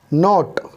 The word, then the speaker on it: knot: नो, नॉट, KNOT, के की आवाज़ नहीं निकलेगी, सिर्फ निकलेगी नॉट की, NOT।